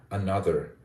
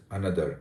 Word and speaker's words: another: the word another another a typical Indian uh would pronounce it as Another another with equal emphasis on all the syllables but when you uh change this you use syllable stress effectively another another the data you see the rhythm English is a stress time rhythmic language so step number